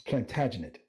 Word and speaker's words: Plantagenet: sir edward or soon to be sir it's plantagenet appreciate it i i always get the syllables mixed up i had um one of